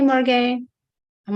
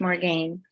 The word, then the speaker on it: Morgan: Canada and so French french-speaking people say Morgan and when I meet Spanish people they say Morgana what do you prefer the original spelling and pronunciation as Welsh and it's more game yeah more game okay yeah Morgan then